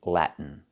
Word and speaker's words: Latin: And also Latin. The same way.